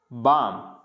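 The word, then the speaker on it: balm: next है अगर M से पहले, अगर M से पहले L आ जाता है तो इसको पढ़ेंगे काम, बाम, पाम, ऐसे नहीं कालम, बालम, पालम, ऐसे नहीं पढ़ना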